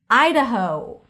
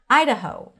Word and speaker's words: Idaho: Idaho. Idaho. Stress on the first syllable. Idaho.